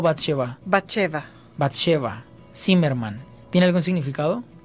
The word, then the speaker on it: Bathsheba: ¿Sí es correcta la pronunciación? Muy bien. ¿Bathsheba o Bathsheba? Bathsheba.